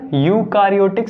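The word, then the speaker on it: eukaryotic: कौन सी होती है यूकैरियोटिक सेल्स में एक ऐसा होता है साइलेंट इसको कैसे पढ़ते हैं यूकैरियोटिक सेल तो जो प्रोकैरियोटिक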